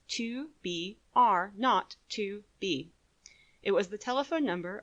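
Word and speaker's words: 2BR02B: were supposed to call the zero in the telephone number he pronounced not the number was 2 b r not to B it was the telephone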